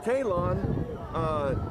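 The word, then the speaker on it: Taylon: Yeah, it's Talon. It's spelled like Taylor, but an N instead of an R.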